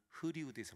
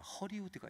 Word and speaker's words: 허리우드: 이 의와 어 발음이 안 돼요. 늘 우린 종로 2가에서 놀았는데 형 오늘 흐리우드에서 만났는데 흐리우드. 그래서 야 승집아 흐리우드 극장은 없다. 허리우드가 있다. 허리우드. 난 흐리우드는 안 간다. 허리우드로 와라.